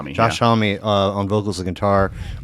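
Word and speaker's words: Josh Homme: Uh so American Rock out of Palm Desert, California, is it pronounced Josh Hom? Uh homie. Homie. Homie. Homie. Josh Homie.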